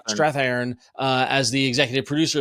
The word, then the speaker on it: Strathairn: It has Walton Goggins playing Peter Tomarken, the the game show host, um, and David Strathairn I can never pronounce his name. Strathairn. Strathairn, uh, as the executive producer of the game